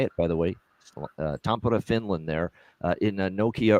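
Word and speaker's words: Tampere: show Florida Dallas this uh finished Showcase in Tampa that's how you say it by the way Tampa Finland there uh in Nokia Arena the star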